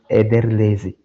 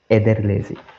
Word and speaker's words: Ederlezi: Mas uma festa muito importante se chama, se chama-se, é, Ederlezi. Vou pronunciar de novo, Ederlezi.